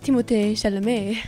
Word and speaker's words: Timothée Chalamet: It's actually pronounced Timothée Chalamet.